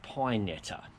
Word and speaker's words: Pinetta: and forums meet the town its name is pronounced pinetta madison county for freedoms trail and there's a